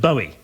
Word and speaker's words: Bowie: 1, it's a girl's name, and 2, it rhymes with Bowie. Although not if you pronounce Bowie like Moira Stuart does.